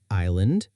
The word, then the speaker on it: island: We need to remember the silent s in island.